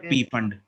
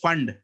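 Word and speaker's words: Pfund: बट होता नहीं है पी फंड, इट इज फंड। पी is silent, पता नहीं क्यों डाला बट इट इज साइलेंट।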